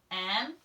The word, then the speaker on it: more: Our friend E there is silent. I have to remember by heart that he is silent.